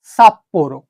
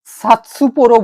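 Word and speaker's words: さっぽろ: কিন্তু এইখানে যদি আমি একটা ছোট সু বসিয়ে দিই তাহলে এটা হয়ে গেল সাপ্পোরো, সাপ্পোরো। কেননা এই সু এর পরে পো আছে, পো এর প্রথমের অক্ষরটা আসছে পি, তো এই পিটা ডবল হয়ে যাবে এখানে, সাপ্পোরো।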